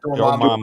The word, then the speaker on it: Dormammu: I can't pronounce his name. Mamu. Dormammu.